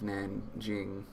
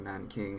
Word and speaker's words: Nanjing: The only thing that I learned about China was the rape of Nanjing, or Nanking, however you want to pronounce it, either way, and the rise of Mao.